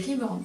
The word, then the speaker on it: reborn: pas comme ça s'écrit ça se prononce reborn en anglais déjà on le dit